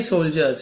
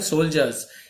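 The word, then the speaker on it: soldiers: उसके पास था many सोल्जर्स यारे बहुत सारे सोल्जर्स ये डी को साइलेंट है तो सोल्जर्स ज ऐसे पढ़े सोल्जर्स या होता है सैनिक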